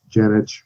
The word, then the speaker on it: Janich: prefer traditional so the the name itself is serbian okay so when you go back on my father's side of the family yannick would be the the traditional pronunciation but very few people know that very few people are that culturally aware so usually it just comes off as as janet but i've been called much worse so please feel free to call me janik whatever you like just call me